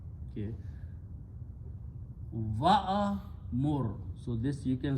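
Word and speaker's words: وَأْمُرْ: these two to recite, alif being a weak letter, don't pronounce. So waw will be pronounced with this sukoon on hamza. So this will become, if I just take this one and move back here, that's the way it becomes now. Okay, and this is pronounced wo mur. So alif just left outside.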